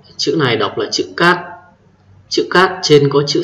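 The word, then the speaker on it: 吉: Chữ thứ 7, chữ này đọc là chữ cát.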